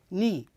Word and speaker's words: knee: and this is the knee how do you spell KN k n dou e notice here K is silent so we we spell it k in dou e but we say it knee and here we have